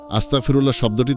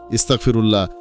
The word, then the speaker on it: আস্তাগফিরুল্লাহ: আধ্যাত্মিকভাবে দুর্বল হয়ে পড়ে অনেকে দ্রুত বলতে গিয়ে শব্দগুলো মিশিয়ে ফেলে আস্তাগফিরুল্লাহ শব্দটি তখন আস্তাগফ ফিরুল্লাহ ইস্তাগফিরুল্লাহ বা আস্তাগফিরুল্লাহ হয়ে যায়।